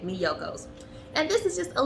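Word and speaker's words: Miyoko's: yocos excuse me mediocre let me pronounce it correctly right there on the back me yokos and this is just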